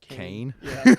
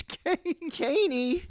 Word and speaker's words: Kanye: to pronounce his name they were going like kane did you see kane west what kane he came out with the album kane kane like who's kanye kanye west you know no no